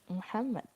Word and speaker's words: Muhammad: Muhammad. Okay, the rule is that a native will never say Muhammad, they will say Muhammad.